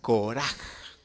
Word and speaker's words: Korah: Ko, ¿sí?, O sea, Koreshet, o sea, Koraj. Esa es la forma en que se escribe en el idioma hebreo.